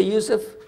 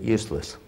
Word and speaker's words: Yusuf: My name is Yusuf. Can you say Yusuf? First time, you got it right. All these years, my wife still pronounces it useless.